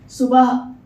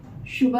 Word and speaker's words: सुबह: सुबह, शुभह नहीं।